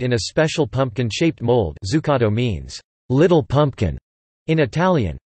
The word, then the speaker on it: Zuccotto: Zuccotto, pronounced D-Z-U-K-K-T-O, suc, is an Italian dessert with origins in Florence.